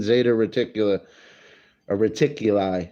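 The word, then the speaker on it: Zeta Reticuli: there has to be something out there even Zeta reticula a reticuli is how you say it 39 light years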